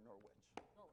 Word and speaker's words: Norwich: Did you say Norwich or Norwich?